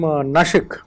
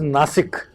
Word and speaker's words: Nashik: It was previously pronounced as Nasik. Yes. Why was the name changed to Nashik? So it was changed to Nashik because it is a more authentic Marathi pronunciation of the word, and the term Nasik